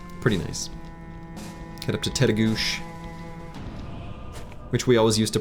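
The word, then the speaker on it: Tettegouche: Adventures each fall pretty nice get up to tedo which we always used to pronounce as taguchi until a park ranger corrected us and then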